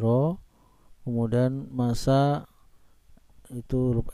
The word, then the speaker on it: rho: Simbol dari massa jenis adalah rho, ya, dibacanya rho.